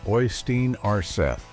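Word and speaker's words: Øystein Aarseth: Uranimus whose name is pronounced Ostein Arth was the central figure.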